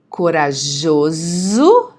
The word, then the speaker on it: corajoso: Corajoso, notice the S, the pronunciation of the S, okay? The S between two vowels, okay? Entre duas vogais, Z, corajoso.